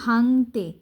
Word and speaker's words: ভাঙতে: সেও তার মতো কয়লা ভাঙতে, এই যে উমর উচ্চারণটা কীভাবে হবে, উমর উচ্চারণটা হবে অনুস্বরের মতো, ভাঙতে উঠেছে ভোরবেলায়।